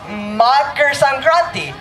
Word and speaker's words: Makar Sankranti: It is very difficult to pronounce. Makar Sankranti.